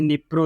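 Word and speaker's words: Dnipro: तो यहाँ देखिए स्टार्टिंग में द निप्रो, यहाँ पे डी निप्रो है, यहाँ पे डी साइलेंट होता है तो इसे निप्रो रिवर पढ़ते हैं।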